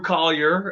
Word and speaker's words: Colyer: some some people uh have a hard time pronouncing my last name because of the spelling so i i always say to people think call your mom think call your dog and then say collier and then you'll get